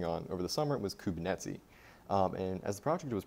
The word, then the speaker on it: Kubernetes: didn't what they meant pronouncing kubernetes kerbin nets for a while is what it is um but as i